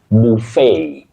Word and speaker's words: buffet: Now, the next word is from French, and that T at the end is only pronounced when you use this word as a verb to hit very hard, to buffet. Buffet.